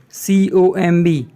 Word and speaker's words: comb: guys please notice that in this word comb B is silent so the pronunciation would be com jeans socks sunglasses desk